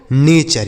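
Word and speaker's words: nature: देखिए टी यू आर ई अगर एक साथ लिखा रहे बच्चों तो इसे आपको चर पढ़ना है। क्या पढ़ना है? चर बिल्कुल इसे आपको चर पढ़ना है। बिल्कुल अलग उच्चारण होगा। एन ए से पढ़ा जाएगा ने और टी यू आर ई से पढ़ा जाएगा चर। इसे पढ़ा जाएगा बच्चों नेचर। ये देखिए नेचर।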